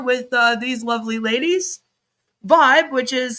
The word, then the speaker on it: VYB: Vibe, which is spelled V YB, but it's pronounced Vibe, was introduced as a new platform in December